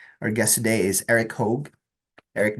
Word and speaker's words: Hogue: Guest today is Eric hog Eric did I pronounce that uh your last name correctly so that is perfect hog or you can my